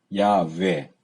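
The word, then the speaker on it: יהוה: 걸 약해 이렇게도 하지만 회는 잘못된 발음 이에요 야우 에요 그 후 에다가 예 배 순 분께서 그렇게 발음하는 데 회 라고 발음하면 안되요 야 왜 또는 야수의 이렇게 해야 바쁜 않는 발음에 그것도 정확한 지 모르지만 근데 제 10 쉽게는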